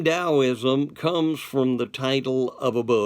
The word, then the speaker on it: Taoism: Okay, so let's look at Taoism first. Now realize you're sitting there, it's spelled with a T, not a D. But the Chinese pronounce a T like a D.